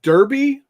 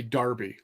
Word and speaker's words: derby: Now, okay, Chris Long, do you say derby or do you say Darby? Because I know the Brits say Darby when they mean derby.